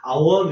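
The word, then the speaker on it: עָוֹן: 아본 발음에 따라서 아본 또는 아원 이렇게 발음할 수가 있는데 아본이라고 그냥 발음할게요.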